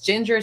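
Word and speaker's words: Jinjer: They are, if you want to hear incredible vocals just for like voice study, it's Ginger, but spelled with J.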